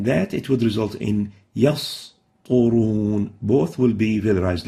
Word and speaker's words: يسطرون: And in that, it would result in يسطرون.